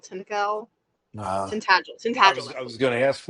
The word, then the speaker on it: Tintagel: That would have been down in Cornwall, and I'm going to mispronounce it. It's like Tintagel. Tintagel.